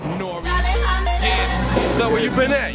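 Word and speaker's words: N.O.R.E.: Is N-O-R-E, that's pronounced Nori.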